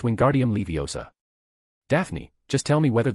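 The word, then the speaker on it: Wingardium Leviosa: He said in a dumbfounded voice, it's Wingardium Leiosa.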